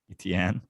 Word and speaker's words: Etienne: Is it Travis Etienne? Is that how it's pronounced? Etienne. Etienne. Like Medellin, Etienne.